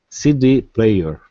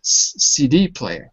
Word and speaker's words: CD player: more you can stress the first word even more hang on a second CD player C c d player on the D CD player CD player